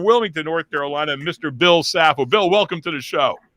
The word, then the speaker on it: Saffo: the mayor of Wilmington North Carolina Mr Bill sapple Bill welcome to the show thank you basil